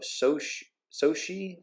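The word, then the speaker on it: Xochitl: So MCU fans claim casting of Soshi Gomez. That I believe that is how you pronounce that name. I've met other people with this name, and the X is pronounced Soshi.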